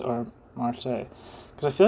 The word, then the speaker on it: Marseille: pronounce that is it Marseilles or Marseille because I feel like I've heard people call it Marseilles but it seems like it should be pronounced like Versailles I'll say Marseille Anyway